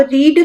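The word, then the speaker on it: read: अब रीड की second form होती है रेड और थर्ड फॉर्म होती है रीड।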